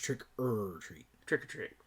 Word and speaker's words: Trick 'r Treat: but it is pronounced trick er treat trick or treat not trick or treat trick-or-treating yes you just say it fast trick or treat yeah